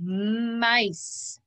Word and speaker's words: mice: take a look here we've got an e after the c when we have an e after the c it makes the soft sound and we have a silent e at the end it makes the i say i so we've got the word mice mice pick d ice